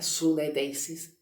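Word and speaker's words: συνείδησις: Entonces, esta palabra conciencia, de que se traduce, se pronuncia sunedeisis, significa una conciencia moral.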